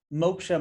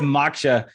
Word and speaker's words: Moksha: So for those who may not know, what does Moksha mean and how does it relate to what you do? Well, thank you for pronouncing it correctly. Usually, typically it's Maksha.